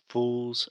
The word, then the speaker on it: fool: So Alexia said, to become young fools again. But Alexia is saying foo, foo. So the correct pronunciation is fool, fool. This is a very difficult sound, this final L sound.